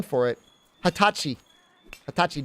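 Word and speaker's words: はたち: special name for it Hatachi Hatachi D normally it'd be like n juai but when you're 20 it's Hatachi I think I spell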